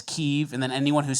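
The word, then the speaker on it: Kyiv: that with Ukraine remember everyone used to say Kiev and now it's keev and then anyone who's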